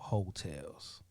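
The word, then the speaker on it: Heaux Tales: Well, if you're looking to listen to something, Jazmine Sullivan put an EP out called Hotels. Oh. Hotels? Like H-O-E Tales? Well, it's spelled H-E.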